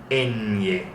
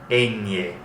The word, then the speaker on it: ñ: This is going to be up in your nose, okay? Ñ. So kind of squint your nose like this when you're pronouncing it. Ñ.